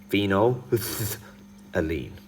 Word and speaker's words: phenolphthalein: So phenol, and then alien, or just like alene. All right, so phenol, alene. That's exactly how you say it.